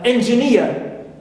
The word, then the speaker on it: engineer: And also engineer, right? So ia here also is nia is stressed, clear?